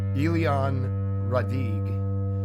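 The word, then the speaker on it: Éliane Radigue: I have not been able to find a completely proper pronunciation, but it's Elian Radig, and she's a French lady.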